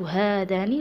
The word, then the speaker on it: هذان: أحول الآن، هذا كتاب، كتابان مثنى مذكر، هذا ستصبح هذان رغم أنني نطقت هذان لكن لا نكتب الألف بجانب الهاء.